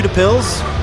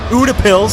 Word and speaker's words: Utepils: get some more beers we back at you two pills Buddha pills sorry and a couple minutes welcome back